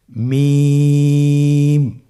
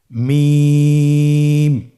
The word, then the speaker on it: মিম: মিম হরফটি উচ্চারণের ক্ষেত্রে অবশ্যই বারিক হবে, পাতলা হবে এবং তিন আলিফ টেনে উচ্চারণ করতে হবে। আমার সাথে আরেকবার চেষ্টা করুন। মিম আবার বলুন মিম হরফটির